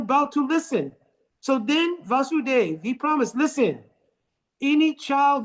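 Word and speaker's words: Vasudeva: Vasu Dave, Vasu Dave here has a short a because Krishna Dave is also vas with a long A. So not to confuse the two.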